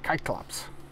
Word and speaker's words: Kyklops: kerberos that's one thing the c's are pronounced like k's so it's kirsty or kirky kodius kriyas and it's pronounced kyklops that's the cyclops i guess i tried